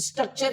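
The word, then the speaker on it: structure: है एन ए टी यू आर E nature स्ट्रक्चर लिखना है एस टी आर यू सी टी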